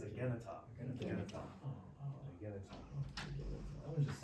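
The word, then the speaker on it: ἐγένετο: Because your brain is going to want to say agenito, right? That's what your English brain's going to want to say, but it's agenita.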